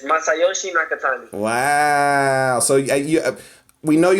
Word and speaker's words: Nakatani: Nakatani? Yeah, it's Masayoshi Nakatani.